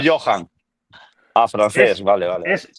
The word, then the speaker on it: Joan: A Florentino que le gusta este perfil un poco con até salibá, eh, Joan Gadu, apuntáoslo. Joan, Joan, Joan Gadú, origen catalán, origen catalán. No, no, no. 195 francés o Johan.